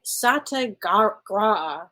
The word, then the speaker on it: Satyagraha: Well, and that philosophy is called Satyagraha, which I'll never pronounce correctly, but essentially it emphasizes peaceful. Satyagraha.